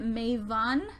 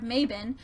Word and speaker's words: Mabon: want to go into i'm pronouncing it may've on instead of Maybin as I heard that it was that's actually the correct pronunciation for it I don't